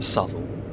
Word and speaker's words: Southall: It's spelt Southall, but I believe that it's pronounced Southall.